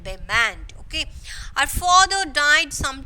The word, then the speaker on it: Belmont: So don't pronounce Blmont, Belmont. It is, you have to pronounce that Belmont.